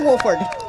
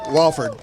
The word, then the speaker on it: Wofford: Is it Wofford or Wolford? Wofford. Wofford. So I was saying it right.